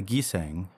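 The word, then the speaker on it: gisaeng: flower has evil associations the giseng as the koreans pronounce the name of the geisha as the japanese call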